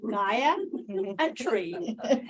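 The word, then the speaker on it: Gayatri: I love my name because the only way people know how to pronounce it is when I say Gaia and tree.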